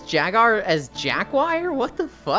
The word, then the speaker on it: Jaguar: Jaguar oh my God jagar what the hi Kumi you're saying it wrong it's Jaguar there's no W Jaguar ooo shut up